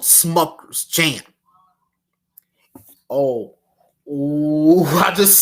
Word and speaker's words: Smucker's: Smuckers. Rhymes with suckers, doesn't it? And that F word that rhymes with Smuckers.